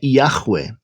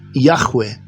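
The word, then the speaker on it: יהוה: Então, o mais próximo que nós temos hoje da pronúncia do nome de Deus é Yahweh, né?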